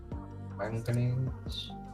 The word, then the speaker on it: manganese: Manganese. Manganese is spelled M-A-N for man, G-A-N for gan, and E-S-E for ease.